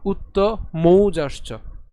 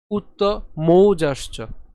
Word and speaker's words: উত্তমৌজাশ্চ: যেহেতু ঔকার রয়েছে এজন্য আমাদের উচ্চারণটি হবে মৌ, নট মো। ঠিক আছে, তাহলে আমরা আবার উচ্চারণ করছি উত্তমৌজাশ্চ। ইউধা মন্যুশ্চ বিক্রান্ত উত্তমৌজাশ্চ বীর্যবান, বীর্যবান।